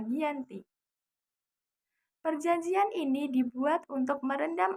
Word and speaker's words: Giyanti: Giyanti dalam pelafalan Belanda disebut dengan Ianti, sedangkan secara tertulis terbaca Giyanti.